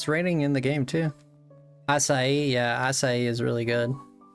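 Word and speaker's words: açaí: Yeah, I'm very familiar with acai actually.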